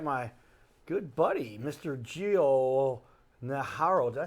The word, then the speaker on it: Najarro: Gio Najarro. Did I say it right? Najarro. Najarro.